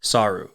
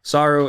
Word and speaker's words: saru: the Japanese word for monkey and that is saru saru is spelled s a Ru and saru is obviously